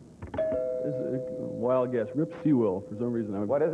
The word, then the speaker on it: Sewell: Rip Sewell, for some reason. What is it? Sewell, Rip Sewell.